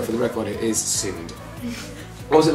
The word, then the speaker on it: SinneD: discussion suggesting of the various ways people have pronounced it. There's Simi D and there's Cindy. Not Barbie. That is stupid. Anyway, so for the record, it is SIND.